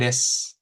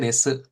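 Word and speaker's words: です: Biasanya ada su di belakang gitu ya, di akhir itu dibacanya cukup S-nya aja. Misalkan des. Nah, gitu ya. Kan harusnya desu, harimasu gitu ya. ikimasu, nah, tabemasuka gitu kan. Nah, ini cukup des, arimas, ikimas, tabemaska. Nah, seperti itu ya.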